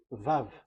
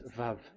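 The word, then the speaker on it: וָו: We called it as Vav. Vav. Your claw, your mouth is like closed. Vav. So it's V as in Vogue.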